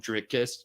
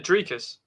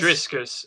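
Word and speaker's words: Dricus: That's his name, Drickus. Right. And what do I call him? Driscus? Driscus. Yeah. Driscus. You add extra letters. Yes, I call him Driscus, like Triscuits.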